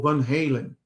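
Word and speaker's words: Van Halen: que podemos dizer sobre Van hen ou van Helen na pronúncia americana cuja canção Running with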